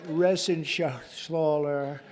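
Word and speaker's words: Reschenthaler: and Guy Ren Shaler you know that Ren Shaler he's uh that's actually the way you pronounce it you know nobody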